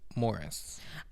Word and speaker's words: Maurice: Are you sure old it's not Maurice. Morris? I'm sure, because his real life insistence that his name be pronounced Maurice was at odds with his on-screen character's pronunciation of Maurice. I feel like that would be so confusing, but also like if you've spent your entire life trying to get people to call you Morris, and then like even